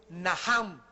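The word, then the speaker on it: נחם: La primera palabra que se usó en el Antiguo Testamento es Naham, en el hebreo que se escribe Nacham. La CH en el hebreo se pronuncia como J y significa cambiar la manera de pensar.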